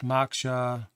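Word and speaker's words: Moksha: now it's working so there's some information it's pronounced maksha and they give some information about the origin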